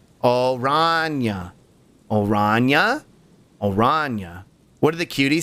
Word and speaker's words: Oranje: Oranje is how orange is pronounced. That is the name of the Dutch royal family. Oranje.